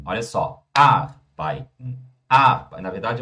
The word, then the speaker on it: arbeiten: O brasileiro costuma falar assim, ó, arbeiten, arbeiten, arbeiten. Errado, pessoal. Em alemão é arbeiten. Olha só, arbeiten, arbeiten.